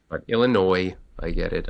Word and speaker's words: Illinois: I almost said Illinois, but Illinois. I get it. I know the S is silent.